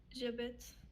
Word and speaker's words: j'habite: So we have the H in French is silent. So it acts as if there is no H there. So how do you pronounce just the J and A? J'habite.